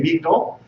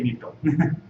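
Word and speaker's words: מגדול: when we say Magdil, we say if it's a weekday, we say Magdil, and when it's Shabbat or a festival, we say Migdol, and when we're chanting the Haftorah formally, we say Migdol.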